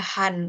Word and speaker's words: Hand: Terus ada hand ini. Tulisannya sama, artinya sama. bacanya aja sih yang beda ya. Kalau bahasa Jerman pakai bacanya Han. Tapi kalau Inggris kan bacanya Hen ya.